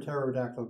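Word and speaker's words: pterodactyl: can't you hear a terod actyl going to the bathroom does anybody know the answer to that because the p is silent okay any other questions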